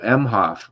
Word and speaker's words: Emhoff: Oh, Emhoff.